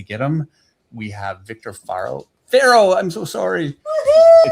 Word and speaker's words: Farro: So Jason Schachter, who is my art dealer, has been saying Viktor Farro. And so I've been saying that, and I've been saying it wrong. And yeah, so anyway. So now you can crush Jason. Jason, if you were listening, it's Farro.